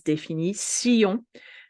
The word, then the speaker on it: définition: This is where you will have to focus because your brain already know the words and they want to pronounce it like in English, but no, it is définition, nation.